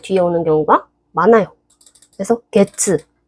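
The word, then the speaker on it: 月: 그래서 게츠, 월, 치읓 발음이죠.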